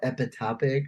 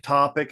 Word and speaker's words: ectopic: Epitopic or what is it? Ectopic.